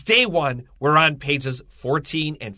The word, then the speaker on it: Juan: j-u-a-n that means john is pronounced one with a w so it sounds like